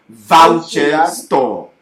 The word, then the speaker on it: Voucher Store: Bon, ici par exemple, si je prends, tu vois ce site-là, voici son nom. Voucher Store. Voilà, ça se prononce Voucher Store.